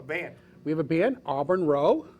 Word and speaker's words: Auburn Row: on tonight a band we have a band auburn row auburn road road row row row row row yeah he